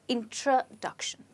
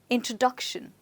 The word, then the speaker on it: introduction: that's right my friends you don't say it introduction but you call it as introduction let's try it again introduction so where do you think the stresses well the stress is on this syllable and remember that the stress before shun is always on the syllable before that okay so it's introduction right before all right let's look at